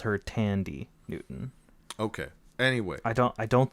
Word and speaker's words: Thandiwe: You don't pronounce the H. It's Tandy. What about the Newton. W at the end? There's a W back there. Where? It's THANDIWE. So it's Tandy.